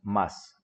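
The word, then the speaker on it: ます: al final lo le lo escribimos má su pero lo pronunciamos más siempre esa terminación así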